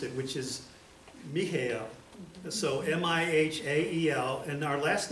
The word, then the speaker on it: Mihael: He was Michael, but he spelled it, I believe the way he pronounced it, which is Mihael.